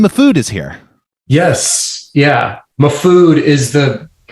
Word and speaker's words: Mahfood: Mahfood is the correct pronunciation, by the way. But my family has kind of recognized Mahfood as well, but Mahfood is the proper, rooted in Middle Eastern speak, I guess I would call it.